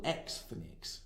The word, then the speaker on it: Xthnics: The following is taken from an essay called Triple Xthnics, Jews in the American Porn Industry. And yes, I did pronounce that correctly. Xthnics is a play on the word ethnic and X-rated. This was written by one Dr.